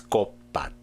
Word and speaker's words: 꽃밭: In other words, in the case of 꽃밭, the final sound becomes 꽃, and here, because 디귿 affects the 밭 behind it, which is pronounced as 꽃밭.